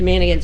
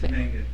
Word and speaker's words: Mangan: I mean, Mr. Manigan's, am I pronouncing that correctly? It's Mangan. Mangan.